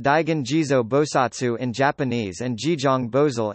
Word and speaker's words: Daigan Jizō Bosatsu: Pronounced Daigen Jizo Bosatsu in Japanese and Jijong Bozal in Korean.